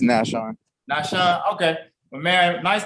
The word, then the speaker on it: Nashon: Now, first of all, how you pronounce the first name? Nashon or Nashon? It's Nashon.